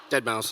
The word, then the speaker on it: deadmau5: you say his name that number five dead mouse that mouse okay with